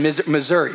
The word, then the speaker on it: Missouri: Missouri. Branson, Missouri. Missouri is how you say it.